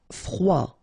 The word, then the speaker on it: froid: Froid. Final D not pronounced.